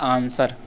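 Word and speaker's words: answer: तो ये जो साइलेंट लेटर है डब्ल्यू। यह साइलेंट है। क्यों? क्योंकि लिखा जाता है आंसर। इसमें डब्ल्यू का कहीं प्रयोग ही नहीं दिख रहा है।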